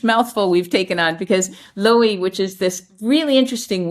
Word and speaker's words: Louhi: Loey. Yeah, like uh L O W low key.